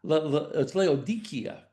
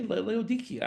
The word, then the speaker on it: Laodicea: They said, oh, it's Laodicea, because the C is a K sound. And I said, okay, Laodicea, I can do that.